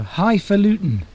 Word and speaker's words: highfalutin: Highfalutin.